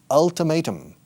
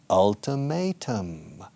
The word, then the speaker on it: ultimatum: but we say listen listen to the pronunciation ultimatum may a first letter in the alphabet letter a ultimatum okay ultimatum ultimatum and